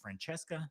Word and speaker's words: Francesca: So on the celebrity list, we have the lovely is it Francesca? Is that how you pronounce it?